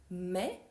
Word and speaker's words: mai: Voyons la différence entre mais et maïs. Dans le premier cas, on a mai, le mois de l'année. Ensuite, mai, une opposition. Et ensuite, maïs, un nom.